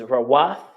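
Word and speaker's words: רות: After that is Ruth, which is Rawath. And it's spelled Ra-wa-tha. Rawath.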